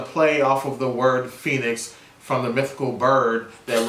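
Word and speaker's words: Fenix: called a Phoenix and they didn't spell it like Phoenix you know like the Phoenix Suns or Phoenix Arizona they called it f e ni X Phoenix which I'm sure is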